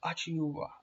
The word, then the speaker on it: Achiuwa: Precious Achiuwa, that's how you pronounce it.